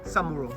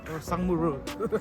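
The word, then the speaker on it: 상무로: Sangmuro. Samuro. Sangmuro. Samuro. It's Sangmuro.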